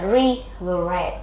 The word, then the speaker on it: regret: đề các bạn regret từ này sẽ đọc là regret đọc nhanh regret ok âm tiết số hai nhận trọng âm khi mà nó theo